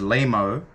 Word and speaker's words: limo: and um he said in their country they pronounce it as limo but it's spelled l-i-m-o apparently the juice of